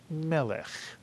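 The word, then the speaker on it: מלך: and you see that the first Sego has the vertical line next to it telling us that the word is accented on the first syllable and all Hebrew words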